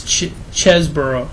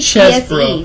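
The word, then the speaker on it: Chesebro: It's Chesboro. Okay, I don't know how you pronounce it. I'm mispronouncing it. Well, it's C-H-E-S-E. Chesboro.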